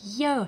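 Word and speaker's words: ё: girl do he yo like yo sound in russian alphabet we have letter yo with two dots yo for example first letter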